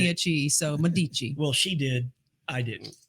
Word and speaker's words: Medici: It's Medici. Okay, Medici.